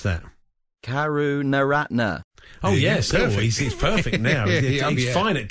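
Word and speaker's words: Karunaratne: Lankan skipper good work God John Howard would pronounce them kuru no Ratna oh yes perfect find it Karen retinas the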